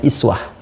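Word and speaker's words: أسوة: Nah, di bab qiraat bacaan uswah ini itu bisa juga dibaca dengan iswah ya kan. Iswah. Jadi ada dua cara baca di sini bisa kita baca uswatun hasanah.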